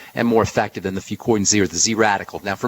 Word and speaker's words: Fucoidan: Fucoidan Z. Let me spell it for you.